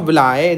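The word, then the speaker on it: villi: कुछ लोग इसको विल्ली प्रोनाउंस करते हैं, लेकिन ये विलाय है आपका।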